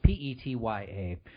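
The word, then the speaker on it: Petya: download Aurora exactly or Pecha that's another one I think I pronounced that correctly it's PE tya either way that's the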